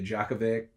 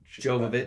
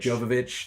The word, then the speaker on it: Jovovich: love the Resident Evil franchise I love MIA Djokovic Jovovich Jovovich thank you I just don't do well with name pronunciation if you couldn't tell already I love